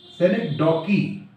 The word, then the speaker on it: synecdoche: what is select dockey how you will pronunciate it select daw key select dockey okay so in this